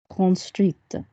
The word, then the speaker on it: construite: So if I then got construit and I then make it feminine as an adjective, how will I pronounce that word? Construite. That's it.